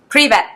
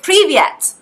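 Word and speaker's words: привет: me if I'm wrong pre-vet pre-vet yes no it's not it's Privet, privet yeah yeah it's privet there we go so Privet and I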